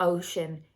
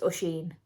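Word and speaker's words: Oisín: It's not Ocean, it's not Oisin, it's Usheen. Usheen.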